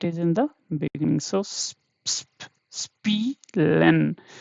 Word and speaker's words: spielen: So whenever you see the combination of this in the between, in the middle, or anywhere you see this is stressed, this is long. Okay, the sound will be not like spillen, not like that, spielen. Yeah, so it should be little longer.